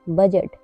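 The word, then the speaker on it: budget: डी जी ई टी बजट बजट में भी डी के बाद जी आया हुआ है इसलिए यहां पर डी साइलेंट है एच ई डी जी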